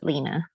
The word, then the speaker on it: Lienna: Lienna, but pronounced Lena.